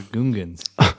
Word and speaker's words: Gungan: The Gungans. Can you can you give him the point just for that? How rude. People don't say Gungan at some point. Uh it's Gungan.